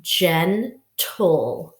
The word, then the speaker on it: gentle: means not rough okay Jenn toll so first syllable then like begins like generous generation so it sounds like a J but it's a gene we know sometimes G can make the J sound okay Jen tool tool